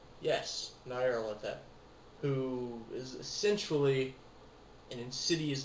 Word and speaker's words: Nyarlathotep: For instance, you have, how do you pronounce his name? Nyarlathotep. Yes, Nyarlathotep, who is essentially an insidious being who travels from dimension to dimension.